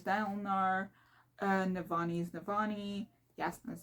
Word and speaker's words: Dalinar: Kaladin is Kaladin, Dalinar is Dalinar, Navani is Navani, Yasna is Yasna, oh, Sit.